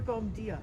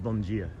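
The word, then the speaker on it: Bom dia: That's Portuguese for That was Bombia. It's pronounced Bongia.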